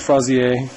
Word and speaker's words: Frazier: It's pronounced Frazier. That's the Old English pronunciation.